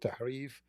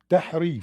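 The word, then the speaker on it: تحريف: How you know how to say the letter ha? Tahrif. Ha? There's no Englishman, even if he practiced for a century, can say it.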